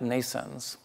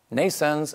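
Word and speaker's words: NNAISENSE: like the ones that we are constructing at nations nations is pronounced like birth in English like Neeson's but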